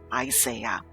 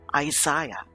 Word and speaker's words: Isaiah: The most well-known of these prophecies can be found in the book of Isaiah or Isaiah, depending on your pronunciation of the name.